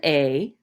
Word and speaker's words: est: with my little cursor, A-E-S is pronounced exactly the same as A-E-S-T. Okay, there is no vowel after this consonant, so the T is silent. And the S is silent too, right?